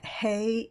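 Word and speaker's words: ה: the letter hei and hay is pronounced with as an H a huff sound as in healio phobia and the letter is silent when it comes at the very end of a word and there is no vowel with it so generally the hay will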